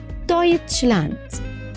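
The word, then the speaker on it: Deutschland: اوخ اوخ اوخ اوخ اي او مع بعض ننطقها اوي اوي اوي اوي في داس فت زي كلمه ايه دايتش اه الالماني يتش او البلد نفسها المانيا دويتش لاند دويتش لاند عندي حروف متحركه من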